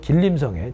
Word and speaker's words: 길림: 김원봉과 윤세주와 1919년에 만주 길림성의 지린 시에서 의열단을 만듭니다 학생들이 저한테 물어봐요 선생님 어떤 시험에서 지인으로 나온다 어떤 길림으로 나온다이 왜 그런 거예요 지린이 길림 있니다 우리 식으로 발음한 거죠 베이징 북경 하듯이요 자